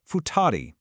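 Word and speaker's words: 二人: This one is pronounced futari.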